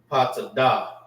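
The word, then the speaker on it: פטדה: Topaz is Patada. That's how you say topaz in the Hebrew.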